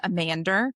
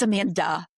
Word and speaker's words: Amanda: There's always the end on it, you know, like I would when I lived in England, I was Amander and I was like, "It's Amanda."